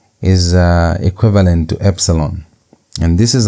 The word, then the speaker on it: epsilon: And epsilon sounds like the English e. E as in it as in the word it as in the word end. That e is equivalent to epsilon.